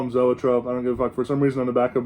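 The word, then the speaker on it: Zoetrope: i'm i call him zoa trump i don't give a for some reason on the back of both of their records it says pronounced e trope really but that's stupid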